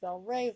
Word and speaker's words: Belrave: Shatner is the owner of Belrave Farm, that's pronounced Belrave, by the way, in Kentucky, and is a well-known breeder of saddlebred horses.